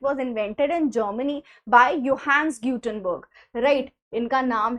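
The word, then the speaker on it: Johannes Gutenberg: तो इट was invented in Germany bye योहंस गटनबर्ग। Right? इनका नाम है योहंस गटनबर्ग। लिखा जे है लेकिन प्रोनाउंस हम इसको योहंस गटनबर्ग के नाम से जानते हैं।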